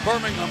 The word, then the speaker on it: Birmingham: BIRMINGHAM IS HOW THEY PRONOUNCE IT IN THE UK.